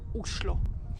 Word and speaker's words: Oslo: culture you will have in norwegian the right way to pronounce the name of the capital is uslo also is a great